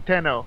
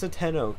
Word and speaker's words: Tenno: how you pronounce it somebody asked how do you pronounce tenno and then he said te no tenno and then he flat out said it in his uh stream I was like I knew I was pronouncing tenno right he was like yeah it's tenno so yeah uh when